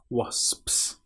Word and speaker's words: wasps: Now, this word is quite hard because you have the O when it looks like it should be a but it is O is the correct pronunciation. And then you've got SP. So, S PS wasps.